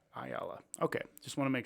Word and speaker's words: Ayala: how do you say your last name one ayala ayala okay just want to make sure didn't want